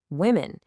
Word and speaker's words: women: Because the O is pronounced with an I sound, the same sound as the I in sit or hit.